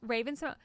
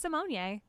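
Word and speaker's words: Raven-Symoné: Raven Simonier. It has an accent on the E on the end of her name, and when she was guest judging on RuPaul's Drag Race, she was like, "It's Simonier."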